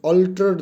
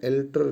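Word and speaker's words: alter: Along the way they ऑल्टर्ड them, that ऑल्टर्ड them slightly. ये ऑल्टर्ड होता है, एल्टर नहीं होता। आप एल्टर करवाने जाते हो ना सूट, ऑल्टर होता है इसकी प्रोनाउंसिएशन।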